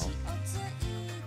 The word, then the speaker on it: Fal: so that's another thing I've been saying her name wrong the entire time it's fou like I thought it was faly but apparently it's f I don't even know